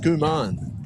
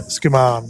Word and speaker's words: Skuman: So it's pronounced Skuman, is it? Yeah, Skuman, yep. Wow.